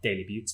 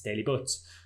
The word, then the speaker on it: Daley Butts: wrong the entire time it's not daily beauty it's daily butts so we'll we'll continue